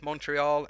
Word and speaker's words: Montreal: okay mostly french but monreal is bilingual all right did i say that right monreal monreal i think that's how you say it because some say montreal and some say monreal i only speak english